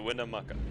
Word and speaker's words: Winnemucca: So Winnemucca, that's how you say it.